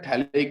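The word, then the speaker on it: phthalic: This is थैलिक acid, P silent होता है, PTHALIC and acid, this is थैलिक acid.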